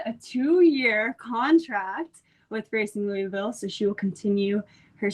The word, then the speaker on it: Louisville: Racing Louisville. And has had 11 appearances for them, including 1 start and 1 assist against Angel City FC. And now she has officially signed a 2-year contract with Racing Louisville, so she will continue her stint with them.